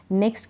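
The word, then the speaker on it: knock: का उच्चारण नहीं होगा के भी यहां पे साइलेंट है के एकदम चुप है नहीं पढ़ा जा रहा इसको प्रोनाउंस नहीं कर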